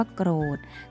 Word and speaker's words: โกรธ: คำ ตอบ โป้ ขา คำ ว่า โกรธ สะกด ว่า กท โกรธ โกรธ เวลา สะกด จะ สะกด ด้วย ตัว ทอ ธง นะ คะ แต่ เวลา อ่าน จะ อ่าน ออก เสียง เป็น ตัว เด็ก ค่ะ ทำ นี้ ก็ ไม่